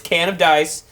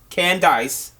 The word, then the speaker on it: Candace: That's by Candace DeMessa, and as she said, it's can of dice, but don't put in the of. Can dice.